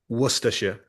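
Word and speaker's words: Worcestershire: How is how is it pronounced, Paul? Worusters.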